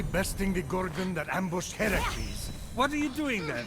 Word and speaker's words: Heracles: So, Phoenix, after boldly besting the Gorgon that ambushed Heracles...